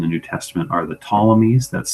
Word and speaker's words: Ptolemies: the Old and the New Testament are the Ptolemies. That's spelled Ptolemies, the Ptolemies.